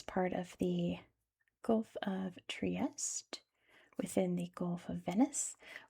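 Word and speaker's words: Trieste: I don't know why we can't say Italian cities properly in English, but that is how you pronounce it in English. It's Triest.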